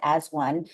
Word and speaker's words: A-1: called as one um spelled A-1 but pronounced as one to try to welcome